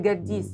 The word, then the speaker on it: جديس: محل جديس. جديس. أنت كاتب على اليافطة بالإنجليزي جديس بالجي. بجي. مش بالكي أو الكيو. لا بالجي عشان تبقى أسهل بالنسبة للأجنبي، وفي الصعيد طبعا هنا قاف بتنطق الجيم.